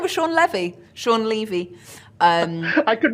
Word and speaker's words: Levy: movie she would know that it's pronounced Levy not Levy I think that's right